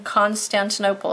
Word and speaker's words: Constantinople: constan - no pol Constantinople five syllables one two three four five Constantinople yep five syllables five dollars move to